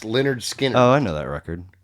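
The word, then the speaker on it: Lynyrd Skynyrd: ain't the one what records it off of pronounced leonard skinner oh i know that record it's the first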